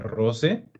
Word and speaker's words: rose: per scusarmi Perfetto allora questo è un classico della pronuncia no le rose rosse la prima a una sola S Allora rose invece la seconda ha due rosse rose rosse bene finiamo con questo